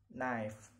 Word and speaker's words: knife: Okay, K is not pronounced at the beginning of the word. Example: new, knife, knock, know, knowledge, and knuckle.